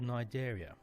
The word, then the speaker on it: Cnidaria: Jellyfishes, corals, and sea anemones belong to a group called Cnidaria. The C is silent, which is a word